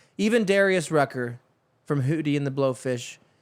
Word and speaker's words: Rucker: Darius some weird name Rucker rhymes with trucker country people understand that